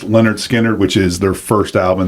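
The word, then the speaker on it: Lynyrd Skynyrd: Leonard Skinner's, pronounced Leonard Skinner, which is their first album.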